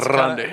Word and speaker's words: Grande: Well, it's kind of Ariana Grande. It's kind of how you pronounce it, ain't? No, because there's can you roll your R's? You have to.